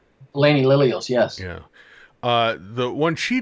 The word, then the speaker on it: Elainie Lillios: Elainie Lillios, yes.